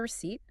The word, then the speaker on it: receipt: Can I get a receipt? Good one. Always play task. And remember the pronunciation re e pt. The p is silent.